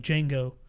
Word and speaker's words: Django: name and he's like Django how do you spell it DJ ang Oh D is silent and then he goes